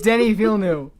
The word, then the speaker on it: Denis Villeneuve: It's Denis Villeneuve.